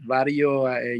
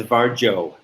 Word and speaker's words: Varjo: with uh with vario vario you know the vario headset that i heard it's pronounced varjo oh yeah wow yeah